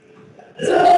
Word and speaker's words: pseudo: सूडो force. ठीक है, P silent है।